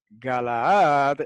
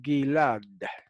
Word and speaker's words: Gilad: Galaad en hebreo se dice Gilad.